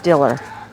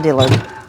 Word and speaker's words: Diller: just inform me that I'm mispronouncing that it was Phyllis Diller not Dillard and so I said